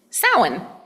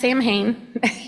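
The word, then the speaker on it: Samhain: coming up to is sin um it is never pronounced Sam hay it is sin uh it is the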